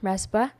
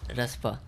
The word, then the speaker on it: Raspa: So I tried to break the syllables and interchange the syllables. Like it's Paras, so I put Raspa in front, that's Ras interesting. in front, and Pa in back end. So Very clever. it's like Raspa. So if you keep pronouncing Raspa, you will heard Paras.